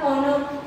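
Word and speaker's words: honour: एंड हुण कई बार की होंदा ऑनर, ऑनरेबल, ठीक है। तो इत्थे की है आ की है कॉन्सोनेंट है वैसे तो, बट साउंड इहदी की है जो एच साउंड साइलेंट होगा, तो आप कहने ऑनर, ओनर, ठीक है।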